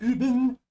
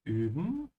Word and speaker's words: üben: because like oh wir üben na mein zu dir. Okay. Make sure to stretch your tong forward hier on die. Ja. In saying U. That's the only difference between the two whenever umloud on the